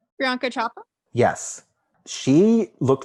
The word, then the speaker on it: Priyanka Chopra: Oh God, can I pronounce her name? Priyanka Chopra?